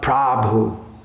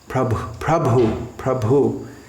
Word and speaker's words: Prabhu: Now, commonly I hear Prabhu. It's not Prabhu. Prabhu.